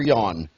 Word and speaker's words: Jan: um by the way since it's pronounced yawn but in America it looks like it would be Janice Jay and built